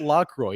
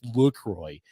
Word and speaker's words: LaCroix: get the law rate it's not Lacroix it's Lucroy I'm like La qua